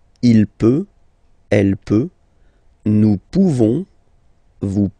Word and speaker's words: pouvons: So classic ending for nous, this ONS ending for nous. Okay? Nous pouvons. Nous pouvons. Okay? You don't pronounce the final S. Nous pouvons.